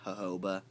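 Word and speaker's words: jojoba: thick loes uh what I use personally is aoba oil and it's it is spelled j o j o ba and it's actually pronounced hoba but if you can get if you go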